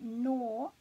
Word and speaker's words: Nō: means um so or therefore and we've got no pretty easy that one isn't it because we know that the o is pronounced for nor and then this one is